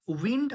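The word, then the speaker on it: wind: যেমন আমি অনেককেই দেখি তারা উইন্ড আর ওয়াইন্ড একই টাইমে বলতে থাকে। কিন্তু দুটো তো সম্পূর্ণ আলাদা। ডবলিউ আই এনডি spelling same. উইন্ড। উইন্ড মানে বাতাস। আর ডবলিউ আই এনডি ওয়াইন্ড যখন উচ্চারণ হবে তখন প্যাচানো।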